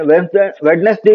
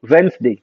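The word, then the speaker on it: Wednesday: वेंसडे, वेडनेसडे बोलते हैं, वेडनेसडे नहीं होता, दैट इज कॉल्ड वेंसडे।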